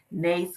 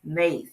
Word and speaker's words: NAICS: the acronym stands for nace codes like snakes nace that's how you pronounce it nace codes some people